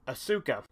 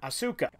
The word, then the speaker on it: Asuka: questioning the way I pronounce trio's last name asuka the technical Japanese pronunciation is asuka but for me I find it a lot